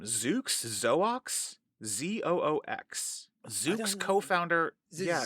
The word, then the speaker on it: Zoox: this company's name zuk zoox zox zuk's co-founder yeah it's so weird Zoo Yeah because sometimes the x is a is a z sound yeah oh it would